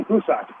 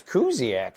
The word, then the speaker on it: Kuziak: Pronouncing it correctly, it'd be Kusak, wouldn't it? Yeah, but he says it's Kuziak, so you have to go with that.